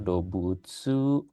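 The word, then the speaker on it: 動物: Dobutsu artinya binatang. Dobutsu. Cara bacanya begini, dobutsu.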